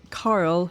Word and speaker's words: Carl: Do you know it's really funny because Scottish people pronounce the typically I would say typically male name Carl. C A R L as it says in captions like Carol. And people think we are saying carol like Christmas carol, but we're saying